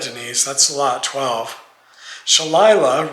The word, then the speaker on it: Shalila: Shalila, rhymes with Delilah, says, right now, none.